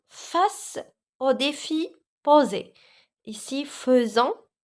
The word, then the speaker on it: faisons: au défi posé ici faisons s'écrit avec a I mais il se prononce e d'accord faisant c'est le